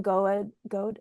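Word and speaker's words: Goade: picture books from middle grade or Michaela go is that is that how you pronounce go.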